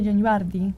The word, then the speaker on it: Genuardi: Genuard. It's actually Genuardi. Genuardi. But only some of my family still uses that. Whatever. Sounds anyway, Italian. It is Italian.